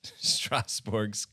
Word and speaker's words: Strasbourg: me how to pronounce Strasbourg's name. I mean, you're doing a pretty good job. I mean, Strasbourg is pretty much the French way of saying it.